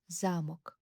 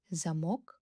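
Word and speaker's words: замок: In Ukrainian, there is zamok and there is zamok. Notice anything? These two words have identical letters, but they are pronounced differently.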